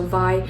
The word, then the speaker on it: vai: term called vi and if i were to spell it out for you it's vai but in our tribal language we have the ah like the spanish v-r-e so yeah i would be e so vi so we just call